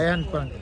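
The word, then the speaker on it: Bryan Park: रायन पार्क, B silent है।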